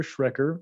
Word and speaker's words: Schrecker: pleasure of having as my guest dr joshua schrecker who is the director of clinical affairs at aegis sciences corporation i hope i pronounced your last name correctly josh that's perfect